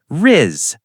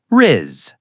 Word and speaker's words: rizz: The correct way is just Rizz, short, simple. Rizz. Rizz. Say it with us, everyone. Rizz. Short and clean. And please don't say it like a buzzing bee.